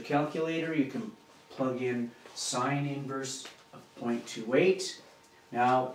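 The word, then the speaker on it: sin⁻¹: 28 that's how you say it sin inverse of 28 it looks like a um a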